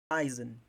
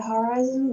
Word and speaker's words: horizon: it means that this is the strongest syllable. the first, okay? But sometimes it is here. Yeah, horizon. Very good. Some cloud that hovering above the horizon level.